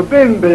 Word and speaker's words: Bembel: Bembel, Bembel, caro amico, Bembel, accento sul ben, leggete.